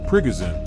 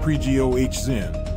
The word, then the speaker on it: Prigozhin: Prigozhin, pronounced pree-GOH-zhin, claimed he had control